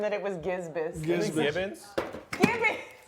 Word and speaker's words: gibbous: Betty said waxing gisbus. I was like, what is that? It's a phase of the moon, but it's gibbous.